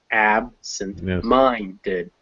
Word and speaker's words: absent-minded: So absent gets its stress on the first syllable, minded gets its stress on the first syllable. Put them together, the stress falls on absent-minded.